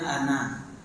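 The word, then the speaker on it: أنا: Seperti contohnya ana. Ana itu harus tulisannya panjang tetapi bacaannya pendek.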